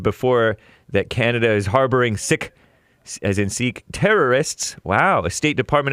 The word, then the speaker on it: Sikh: In June, someone assassinated this Hardeep Singh Nijjar, Canadian citizen, and Sikh, pronounced Sikh.